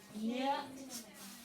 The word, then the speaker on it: knit: Mom knit. Hit a cat for Okay. K-N-I-T is the word that has a silent letter.